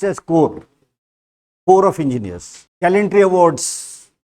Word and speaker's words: Corps: you know corpse of engineer it is not corpse it is written as Corpse but pronounced as core core of engineers calendar Awards are passion Armed